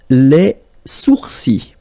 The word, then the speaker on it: les sourcils: Les sourcils. Les sourcils. Okay, so it's quite strange because you get this LS at the end, but then, well, you don't pronounce them.